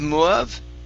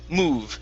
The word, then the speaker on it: move: makes it smooth now instead of love okay it's move which makes it move